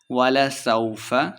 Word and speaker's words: وَلَسَوْفَ: وَلَسَوْفَ يُعْطِيكَ رَبُّكَ فَتَرْضَىٰ، وَلَسَوْفَ لمع نہیں کریں گے۔ يُعْطِيكَ، عین کو تلفظ